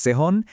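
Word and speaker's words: zehn: 7 হলো জিবেন, 8 8, 9 9, 10 সেহন, 11 এলফ এবং 12 হলো সোলফ।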